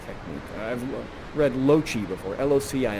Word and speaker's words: loci: I've read Loci before, L-O-C-I. I think it's pronounced like that, Loci.